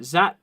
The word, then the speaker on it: Zapata: for bits of Rendado, bits of, let's see, Zapata. That's how you pronounce it.